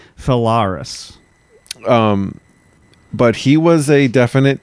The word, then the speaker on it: Phalaris: We didn't really come to an agreement on how to pronounce that guy's name. I say Phalaris.